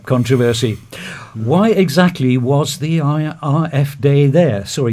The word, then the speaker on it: AfD: why exactly was the IRF day there so are using the German pronunciation so AF D what did they hope